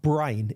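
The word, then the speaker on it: brane: a physical universe or brain is the term that's using and and that's spelled b r a n e and this expands out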